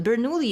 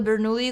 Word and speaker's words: Bernoulli: I think that's pronounced Bernoulli. Bernoulli equations.